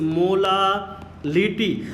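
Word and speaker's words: molality: Spelling में difference है, pronunciation में डिफरेंस है, ध्यान दीजिएगा। दिस इज मोलालिटी, और इसको हम लोग कैसे रिप्रेजेंट करते हैं, स्मॉल m से रिप्रेजेंट करते हैं।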